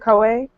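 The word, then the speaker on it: Koei: want to say it's COA techno techno am I saying it right is it COA you said it yes that's how this is how you say it all right yeah Capcom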